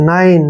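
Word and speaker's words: nine: हमने नहीं पढ़ना है नाइन ना नाइन मींस क्या होता है नो यह बताया मैंने आपको ई अगर लास्ट में ई आता है तो ई का उच्चारण हमने नहीं करना है तीन लेटर का है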